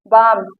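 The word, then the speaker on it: balm: इसे बाम, यहाँ पर यल साइलेंट है।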